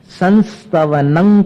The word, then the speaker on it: संस्तवनं: संस्तवनं करिष्ये, संस्तवनम में न जैसा, और स्तवनम यहां पर क आगे, जैसे तीर्थंकर, पंक, कलंक, अंक, तो संस्तवनं करिष्ये ये उच्चारण हो गया।